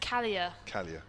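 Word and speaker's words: Kalea: on for a single pronounced callier so kelly and uh on the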